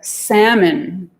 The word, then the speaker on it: salmon: Words like salmon got an L in there. We didn't say, we got salmon from French, which was saumon. We never had an L there.